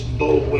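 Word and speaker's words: Boulware: Yeah, spell It's Bowler is how it looks. B-O-U-L-W-A-R-E.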